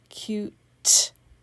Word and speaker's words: cute: spell the u sound cute okay does that say cute that would say cut i put a silent e to make the u say u so the e like